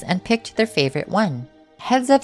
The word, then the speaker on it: Heads Up: Up next, we have Heads Up by Yggdrasil. The name is basically pronounced like saying heads up, but the S is a Z.